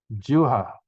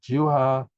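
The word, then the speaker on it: jivhā: Juha, the V pronounces like a W. Juha pasayatana.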